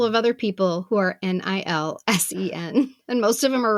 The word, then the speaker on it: Nilsen: Nilsen is Nilsen. It's not Nielsen. It's not Nelson. It's just me and a couple of other people who are Nilsen.